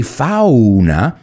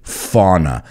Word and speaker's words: fauna: the only thing is we pronounce it a little bit different in english we don't say fauna we say fauna and to flourish is